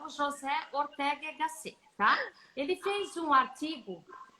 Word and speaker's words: José Ortega y Gasset: Eu separei aqui, gente, é uma fala de um filósofo espanhol muito famoso, chamado, eu não vou falar a pronúncia espanhola, aportuguesado, José Ortega y Gasset, tá?